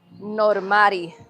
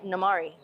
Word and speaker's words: Normari: So, when I was in high school, they would they would erase the R and they would say Namari.